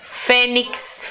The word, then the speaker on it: fênix: Fênix, fênix, fênix, ó, o fê.